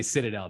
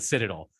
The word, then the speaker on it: Citadel: there like to call they don't say Citadel they call it the Citadel uh it you you